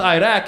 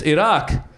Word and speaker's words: Iraq: didn't pronounce it right it's not Iraq it's Iraq okay fine I might